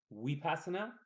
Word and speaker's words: Vipassana: I'm going to talk about we Pastner it's pronounced we passin out but it's spelled V passing a VIP a